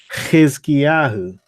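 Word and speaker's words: חִזְקִיָּהוּ: To pronounce the Chet, so you're saying the H sound with your mouth open while blowing a raspy sound from the back of your throat.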